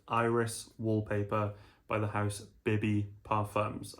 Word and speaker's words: Bibbi: wallpaper by the house bbby perams I think that's how it's pronounced BBY that's what I'm going to go with for this video um I came